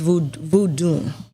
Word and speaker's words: voodoo: So within voodoo is a religion and it's voodoo. Voodoo. It's really Voodoo.